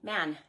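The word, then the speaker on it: Mahon: Um, if you've ever wondered how to say my last name, M A H O N. Man, it's Irish. Uh my husband's family is from Ireland originally way back, you know, back in the day. So uh man is how you say it.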